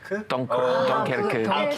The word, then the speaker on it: 덩케르크: 덩커크. 덩케르크. 그 영어. 발음으로.